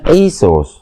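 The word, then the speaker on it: Iesus: Dari Yesus nanti tulisan latinnya juga begitu dibacanya Yesus.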